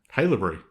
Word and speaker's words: Haileybury: Haileybury.